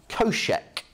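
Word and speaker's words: cosech: we've got those three functions then how about koshek as i pronounce it so that is one over shine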